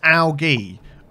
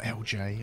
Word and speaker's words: algae: It's algae. Algae, if you want to pronounce it that. It's not LJ.